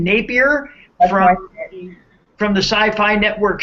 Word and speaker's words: Napier: yes is that how we say his name Napier from from the Sci-Fi Network show um Helix